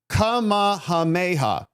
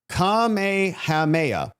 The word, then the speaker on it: Kamehameha: Think of Goku when pronouncing the Samoan king. King Kamehameha. Kamehameha. Kumehameha. King Kumehameha.